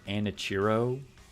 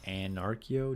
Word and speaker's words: Anachiro: English voice actors part pronouncing it Anachiro because the whole point was that they're like named after various philosophies such says anarchy. So it's anarchio, not anro.